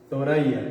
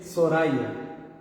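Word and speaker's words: ثريا: Tem gente que pronuncia ela no árabe coloquial como o S. Por exemplo, uma palavra que tem vamos dar um exemplo igual Thoraya. É o nome de uma mulher. As pessoas chamam o que? Soraya, ou seja, com S pronunciam. O certo é pronunciar com o que? Com Tha.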